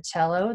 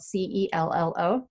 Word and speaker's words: cello: this just a second, cello is spelled C-E-L-L-O. There's no H in it, but because it's an Italian word, you don't say cello, you say cello.